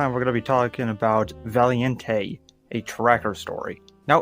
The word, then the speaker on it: Valiente: I kept saying Valiant, but in actuality it is Valiente, so that is on me, and I apologize to all the Hispanic people in my audience.